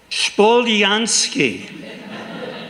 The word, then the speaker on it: Spolyansky: time, for these decades, you've made my last name 3 syllables. And the truth of the matter, maybe you know Russian, that's my insight tonight. Because when my grandfather came from outside Kiev in the Ukraine, his name was Yosef Spolyansky. It was 3 syllables, and somehow you knew that.